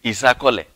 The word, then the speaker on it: Isakole: They call it Isakole. I'm not a Yoruba, so let me not murder the language. The pronunciation is Isakole.